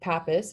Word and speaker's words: Pappus: thing that we're about is the theorem of pappus which is I guess how you say it